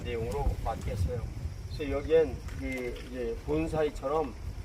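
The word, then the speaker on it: 盆栽: 이것을 분재라고 얘기를 하는데 이 분사이 이렇게 발음 일본어로 본사이 이렇게 발음하는데 이 그 본사이를 하는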